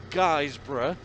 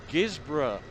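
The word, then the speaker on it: Guisborough: advert come on and it would say guys bro and i kept saying it's not guys bro it's gizmo but it's how the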